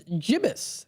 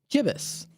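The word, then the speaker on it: gibbous: It is jibus. That is g i bb o u s. jibus.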